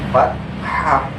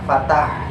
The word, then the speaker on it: fathah: Itu terdiri dari fathah, seperti ini, fathah, kasroh, sama dhammah. Nah, fathah itu bentuknya seperti garis miring yang ada di atas huruf. Itu namanya fathah. Jadi bukan fatah, tapi fathah.